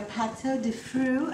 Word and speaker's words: pâte de fruits: We have your pâte de fruits.